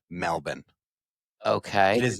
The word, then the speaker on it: Melbourne: I've heard, I mean, it is Melbourne. It is not Melbourne.